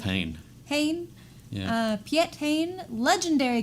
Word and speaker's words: Hein: Piet Hein, is that how he's decided to pronounce that? I'd go with Hein.